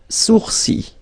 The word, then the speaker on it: sourcils: Les sourcils. Okay, so it's quite strange because you get this LS at the end, but then, well, you don't pronounce them.